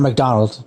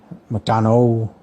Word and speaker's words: McDonough: Not McDonald, not like McDonald's. It's McDonough, Donu, but he's an insane drummer.